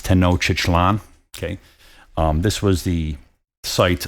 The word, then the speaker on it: Tenochtitlan: I believe it's pronounced, and some people are gonna argue with me about this, but I think it's Tenochtitlan. Some people pronounce it Tenochtitlan. I believe it's Tenochtitlan.